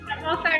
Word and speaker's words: Savoir-Faire: So you started the Savoir-Faire Academy, and I hope I said that the right way. It is Savoir-Faire Academy.